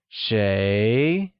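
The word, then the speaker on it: 谁: vocabulary so let's begin who translates to chez which is pronounced with a mid rising tone let's hear you say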